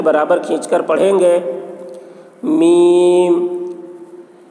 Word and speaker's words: میم: میم, میم کے تلفظ میں بھی حرف مد ہے, وہ حرف مد یا ہے اور یا کے بعد میم ہے جو ساکن ہے. تو حرف مد کے بعد والے حرف پر سکون ہے, اس لیے مد لازم حرفی مخفف ہوا.